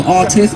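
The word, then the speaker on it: Rtizt: I am Artist on Twitter, which is R-T-I-Z-T. Do not spell it A-R-T-I-S-T, that's wrong. It's R-T-I-Z-T.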